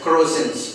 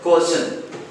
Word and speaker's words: croissant: As it is wrongly pronounced as croissants, it's not croissants. As the spelling is C-U-R-O-I-S-S-A-N-T-S. It should be pronounced as Corson.